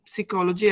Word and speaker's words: psychology: well think about study psychology at the university. Sì, allora la P fate finta che non ci sia. Psychology.